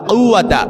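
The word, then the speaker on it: قوة: লা হাওলা ওয়ালা কুয়াতা এই যে কাফ এটা কিন্তু কফ ওই যে মধ্যখান বেচানো ওয়ালা যে কাফ আছে ওই কাফ না কিন্তু লা হাওলা ওয়ালা কুয়াতা এই কাফটা আপনাকে ভালো করে উচ্চারণ করতে হবে লা হাওলা ওয়ালা কুয়াতা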